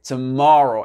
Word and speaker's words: tomorrow: Donc faites attention au R ici. Et faites attention au O ici. C'est tomorrow. Et l'accent tonique, regardez, il va être sur cette syllabe-là. D'accord? Sur le MO ici.